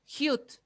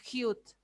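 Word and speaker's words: 히읗: Hute al principio va a sonar como J, al medio va a sonar como J y al final va a sonar como T, si lo tengo en pachín.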